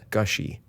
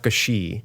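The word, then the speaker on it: Gushee: you pronounce that it's gushy gushy gushy not Gushi like like that Fountain is so gushy yes okay or so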